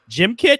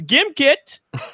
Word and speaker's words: Gimkit: product just for you i believe it's pronounced gym kit no it's gimkit i can't tell you